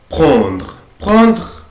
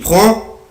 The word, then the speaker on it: prend: je prends, tu prends, il prend, elle prend, on prend. نفس النطق prend بس الإكريتور مختلفة.